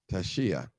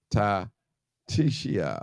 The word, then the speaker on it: Tashia: how to pronounce it uh Tashi Tashia yeah it wasn't ta tishia I don't know okay